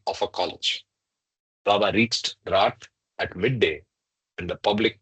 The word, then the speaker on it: Rath: of his stalwarts, It Gaya is called Prasad Rat. Khare, We lived.